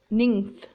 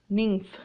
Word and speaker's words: nymph: Attention to some words that are spelled with letters PH, but the sound is of F. For example, phone, phone, hyphen, hyphen, or nymph, nymph.